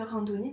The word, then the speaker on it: randonnée: Je fais une randonnée. Donc il y a un E muet à la fin parce que c'est un mot féminin. Une randonnée, donc le E c'est la marque du féminin.